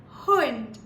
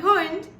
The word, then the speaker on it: Hund: Now the word that I would like to share for H is Hund. Hund. Now this one is my favorite because I'm an animal lover. And Hund means a dog.